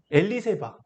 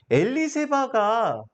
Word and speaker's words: 엘리세바: 엘리는 이제 나의 하나님이 되니까, 나의 하나님은 사벳, 정확하게는 세바입니다. 엘리세바, 세바, 부엘세바, 그쵸? 세바, 언약이라는 뜻입니다. 일곱이라는 단어이기도 하고, 그래서 일곱 개의 우물, 언약의 우물이라고 하면서 7이라는 단어가 언약이라는 말로도 쓰이는데, 엘리세바가 구약에 나옵니다.